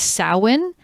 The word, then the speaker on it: Samhain: It's a Gaelic word. So it is spelled S-A-M-H-A-I-N.